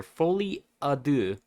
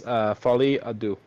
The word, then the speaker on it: folie à deux: I'm unsure of how to pronounce it. It is this word right here, folie à deux, I believe is how you pronounce it, but I'm not 100% on that.